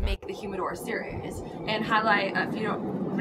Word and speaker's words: jai alai: really fast game but so they called it highlight and most people can't pronounce it because it's J A I L I A or L A I so you know